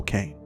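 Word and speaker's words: Caine: be documented nonetheless also while phonetically the name is similar to the biblical cane this cane is spelled c a i n e another feature of can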